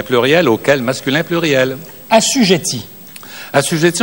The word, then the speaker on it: assujettis: Assujetti, on prononce assujetti, mais ici, c'est le participe passé conjugué avec l'auxiliaire être, donc c'est le sujet nous, donc assujetti prend un S.